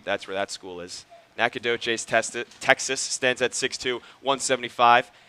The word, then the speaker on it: Nacogdoches: Ellis, a rising senior from Nacogdoches. Did you know how to pronounce that? I did not. That's where Stephen F. Austin is Okay. located. That's where that school is. Nacogdoches, Texas, stands at 6'2", 175, and he will